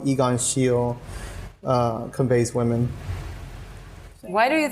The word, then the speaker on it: Egon Schiele: It's Egon Schiele.